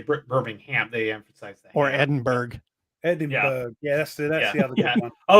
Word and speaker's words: Edinburgh: Like, come on, it's Edinburgh. I can understand it. American people would say Edinburgh because it's spelt like that.